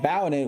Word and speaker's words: Valnet: They were sold off to a group called Valet, which to me rhymes with Skynet.